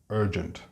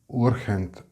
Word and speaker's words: urgent: And finally, we have urgent, and it's not urgent as in urgencia. Words in English that begin with U are not pronounced like the U, in Spanish.